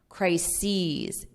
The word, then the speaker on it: crises: we have crisis is crises e so you have that long e on the plural crisis crises as well